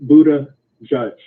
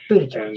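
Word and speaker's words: Buttigieg: If you do it phonetically, it's easy. It's Buddha and Judge. Buddha Judge.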